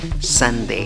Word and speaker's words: Sunday: en la primera sílaba pero en la pronunciación tienes la que no es mía ni en yo en la segunda sílaba otra vez tienes la da con el sombrero hey como pronuncia la